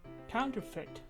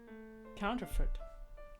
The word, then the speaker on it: counterfeit: Counterfeit. Counterfeit. It kind of sounds like foot at the end.